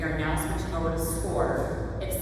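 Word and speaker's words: Scoir: planning program we are now switching over to score it sounds like a square or it's it's spelled like wireless that's c o i r but it's pronounced score we're transitioning all the kids over to that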